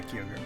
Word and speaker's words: Kyogre: Heart Gold had Kyogre is that how you pronounce that yeah kogre you might want to mention uh your current